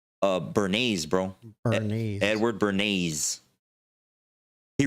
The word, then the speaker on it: Edward Bernays: Moraines, is that what you said? Bernays, bro.